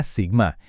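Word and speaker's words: σ: Oke, kalau tadi rata itu soal posisi, sekarang kita lihat simpang baku atau sigma, dibacanya sigma.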